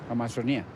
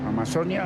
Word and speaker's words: Amazonía: Dicen que la pronunciación varía de acuerdo al tema al que hacen referencia. Amazonía para referirme a la región, o sea, a lo que tiene que ver con nuestro Amazonas. Y Amazonia, pues sí, de pronto en